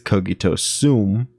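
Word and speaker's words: cogito sum: um all right so Brian's pronouncing it incorrectly it's kogito soon and soon means I am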